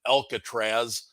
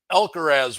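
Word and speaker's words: Alcaraz: Gauntlet last week and I I slaughtered the guy's name and called him Alcatraz um but elker as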